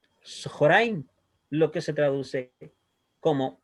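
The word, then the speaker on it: צהריים: Por lo tanto, según esta regla, nos dice que si tenemos una kamat antes de una hatet kamat, el kamat va a sonar como O. ¿Ya? Por lo tanto, ahí vamos a pronunciar como Sohoraim, Sohoraim, lo que se traduce como mediodía.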